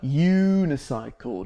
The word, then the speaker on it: unicycle: see at the circus listen to the word unicycle does that sound like a vowel is that a vowel sound not really it sounds like a unicycle so what do we